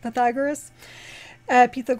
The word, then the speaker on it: Pythagoras: So I found out how you pronounce it. Pythagoras, who his was the number, that was the beginning.